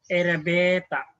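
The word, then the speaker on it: エレベーター: Erebet, but this one, a long one, should be the pronunciation erebeta, erebeta, okay? It's a long one.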